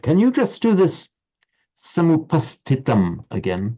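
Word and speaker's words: समुपस्थितम्: Can you just do this samupastitam again? Samupastitam. And as I was saying earlier, in connection with Roger's pronunciation, make the h sound after the term word samupastitam. Samupastitam.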